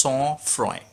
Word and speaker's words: sang-froid: Guys এই sang-froid উচ্চারণ, এই sang-froid আছে, ওটা উচ্চারণটা হচ্ছে sang-froid। কেন sang-froid উচ্চারণ বলে দিই, আর কেন এখানে ইউজ করা হয়েছে। sang-froid ইটস a French word, আর এই ওয়ার্ডটার মিনিং হচ্ছে কোল্ড ব্লাডেড।